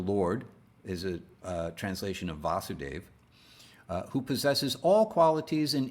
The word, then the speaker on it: Vasudeva: krishna son of vasudeva notice vasudeva doesn't have a long a vasudeva is a patronymic